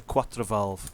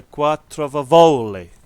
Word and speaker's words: quattrovalvole: Countach quattrovalvole vivoli okay people to say it's a Quattro valve it's not a Quattro valve it's a quarter of a volley okay you got to say it properly so yeah if you